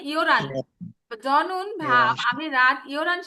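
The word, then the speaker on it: 열한: এই যে ইয়োল হান, এখানে কিন্তু উচ্চারণ ইয়োল হান হবে না, উচ্চারণ কি হবে? ইয়োরান।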